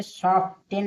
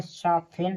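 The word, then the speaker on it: soften: कि ऑफिटेन पढ़ेंगे इसे सॉफ्टेन नहीं पढ़ेंगे एस ओ एफ टी ई इसे सॉफ्टेन नहीं पढ़ेंगे इसे सॉफ्टेन पढ़ेंगे यानी टी है साइलेंट इसे सॉफ्ट फेन पढ़ेंगे अब देखिए एस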